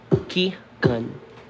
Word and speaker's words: Keagan: Sino ito kcast to di ba ki gun ki gun That's How You Say My Name k gun